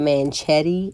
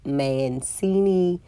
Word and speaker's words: Mancini: I said Manchetti, I think, in a previous video, and it's Mancini.